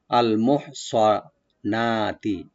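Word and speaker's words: المحصنات: করব গলার মাঝখান থেকে, আল মোহ, সোয়াটাকে ওপেন করে পড়বো একটু, সিন যেন না হয়। আর নুন এখানে আমরা মধ্যে বাদল করব, একালি টানবো, আল মোহ সোয়ানাতি, আল মোহ সোয়ানাতি, নুনটাকে ওপেন করে।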